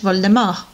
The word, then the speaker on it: Voldemort: flight of death and originally in english it was supposed to be pronounced like in french voldemort t was not supposed to be pronounced but um a lot